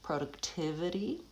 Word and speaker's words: productivity: And then lastly, in productivity, it's a 5-syllable word actually, and so it has secondary stress as well as primary stress. The primary stress is on tiv, that's the longest syllable, productivity, but the first syllable goes back to a pure vowel o because it has secondary stress. It's also important. Productivity. You can also say productivity. I tend to say productivity.